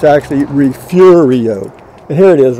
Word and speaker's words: Refugio: f yu-gi-oh and a lot of people will pronounce it refugio but it's actually refugio and here it is right here this is